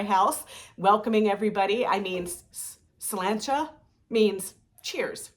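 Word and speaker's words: Sláinte: I mean, slancha means cheers, right?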